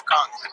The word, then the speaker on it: Khan: With with my last name Khan. Shout me out. Um on Conversations, my last name is Kong. King Kong.